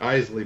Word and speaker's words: Isley: Isley Brothers.